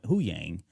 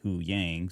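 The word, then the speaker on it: Huyang: his name and now it sounds like who who yang right and a little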